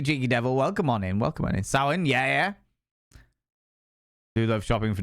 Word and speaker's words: Samhain: It's spelled Samhain, but it's pronounced Samhain or something like that.